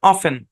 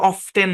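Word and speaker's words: often: অফেন কি উচ্চারণ অফেন অফেন এরকম না আমার উচ্চারণটা একটু কপি করেন অফেন ফান ফ্যান ফান একটু কুইকলি যাবে হ্যাঁ মূলত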